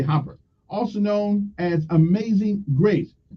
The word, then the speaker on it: Grace Hopper: The Common Business-Oriented Language, or COBOL, was primarily designed by a woman, Grace Hopper, or Hooper. It depends on how you pronounce the name, I guess. We're going to say Hopper, also known as Amazing Grace.